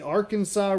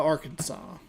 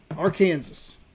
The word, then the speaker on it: Arkansas: We're heading to Arkansas. Arkansas. Why are you not pronounced AR Kansas?